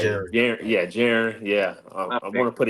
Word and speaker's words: Jaron: all, I want to I want to actually tell y'all how to pronounce my name because a lot of people get it mixed up a lot. It's been happen to me since I was born, bro. Um, my name is Jiren.